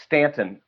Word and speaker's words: Staunton: And there's notes at the Wilson Museum in Stanton, Virginia, spelled Staunton, but pronounced Stanton, but spelled Staunton.